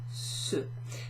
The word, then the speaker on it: ce: So if we look at the first one, this one here, C-E is pronounced ceux.